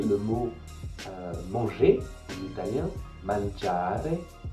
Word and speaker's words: mangiare: Donc si vous prenez le mot manger en italien, mangiare, vous avez une accentuation. La deuxième syllabe est plus forte, già, mangiare.